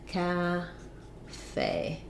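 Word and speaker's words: café: also asked about cafe in cafe we have second syllable stress we have the a black cat vowel so you can think about cat cafe and then we're stressing on the fey syllable there's our a diphthong that we were just talking about in fiance so it sounds like ca faye but those same letters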